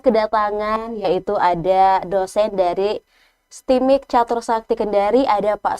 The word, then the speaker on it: STMIK: Ini bacanya gimana nih? STIMIK atau STIMIK, benar nggak bacanya? STIMIK, ya, STIMIK.